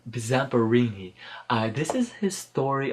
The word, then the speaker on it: Zamperini: wrote it down so i won't burn in pronounce it correctly samburu Zamperini I this is his story about how in